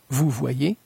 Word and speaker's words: vous voyez: La terminaison EZ de la deuxième personne du pluriel se prononce E. Vous allez, vous allez, vous voyez, vous voyez, vous regardez, vous regardez. La combinaison voyelle plus ILL se prononce comme voyelle plus Y.